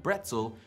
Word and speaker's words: Brezel: In Latin, braciole means little arms, and German bretzel with a B may have stemmed from there. If so, English speakers probably misinterpreted the way Germans were pronouncing the B and switched it to a P.